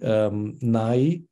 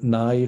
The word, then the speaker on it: nai: If you now want to say those belonging to the royal mansion, it would be nai. The n is practically never written. So nai hood enset.